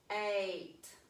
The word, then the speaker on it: eight: keep him company so the first vowel is going to say its name but eight eight see we didn't hear the i in that word did we okay let's